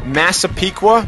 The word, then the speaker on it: Massapequa: We have time for one reader question, which is courtesy of Jacques, a neighbor of yours from, I hope I'm pronouncing this correctly, Massapequa, New York?